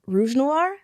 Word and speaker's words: Rouge Noir: which you prefer uh but it is pronounced rouge noir all right so what are you doing so